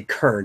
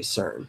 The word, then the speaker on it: CERN: The C, it's a French acronym, but it's a hard C sound, but you still say CERN. Yeah. You don't say Kern, you say CERN.